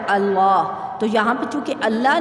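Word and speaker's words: الله: الحمد سے یہ دیکھیں یہاں پہ آپ نے شد پیدا کر دی، یہ جو لام ہے اس کے اوپر شد لگ جاتی ہے۔ جیسے کہ آپ اس کے اگر ہجے کریں گے تو آپ اس طرح سے پھر الف کو لام کے ساتھ ملایا تو ال، اور لام کھڑی زبر لا ملایا تو اللہ۔ تو یہاں پہ چونکہ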